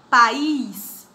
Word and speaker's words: país: nas paroxítonas fica altares país fica país tia país e terminar bem essa não entra naquela regra não não porque país não é paroxítona é oxítona a sílaba mais forte a última então tia tô indo